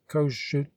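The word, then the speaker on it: Kossuth: president of the ministry kosuth pronounced kosciut minister of finance died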